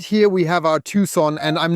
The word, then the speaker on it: Tucson: Right here we have our Tucson, and I'm not even sure, do you say Tucson or Tucson?